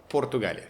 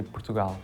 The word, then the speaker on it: Portugal: How would you pronounce my country when we Portugalia Portugal Portugal so that the way of saying say our country we say Portugal we say Portugal and can you try to copy me?